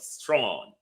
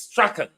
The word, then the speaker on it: Strachan: He called himself Strawn, but the pronunciation in British Scottish is Strachan.